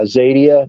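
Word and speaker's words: Xadia: of sales from uh zadia that's spelled with an X yeah um look at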